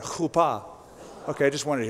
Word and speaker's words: chuppah: No, say it like that, chuppah.